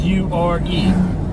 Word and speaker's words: Uwharrie: say it once a it's pronounced you argue but it's got a W it's got an H yeah anyway off road